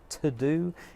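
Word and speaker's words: teux deux: favorite all times tool tools is called to do it is spelt the French way te u X -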